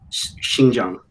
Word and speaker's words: Xinjiang: How do you pronounce it again? Xinjiang.